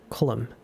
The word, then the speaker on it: column: Condemn これさ condemned だから condemning N を発音しないんだね。だから N 発音しなくて MN で終わるやつって他にもあったよな。column か column condemned column って同じだよね最後。MN で N を発音しない。Damn it, Olivet.